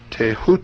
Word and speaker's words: Thoth: scribe of the gods Thoth pronounced taehu T the so-called Emerald